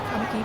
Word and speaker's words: Kamiki: I guess it should be Kamiki, but I'm probably gonna mispronounce it every time.